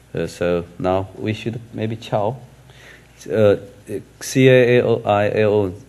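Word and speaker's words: CAAOIAO: So now we should maybe chow. C-A-A-O-I-A-O, if we pronounce chow, then there will be a very good meaning in Chinese. Chow means a bridge.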